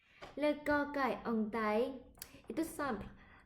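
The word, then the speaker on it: ก ไก่: Là c'est cocaille. Ok. Et comment bien prononcer le cocaille? Le cocaille en thaï est tout simple. Imagine que tu veux dire gâteau, gâteau, mais que tu coupes les ongles en to.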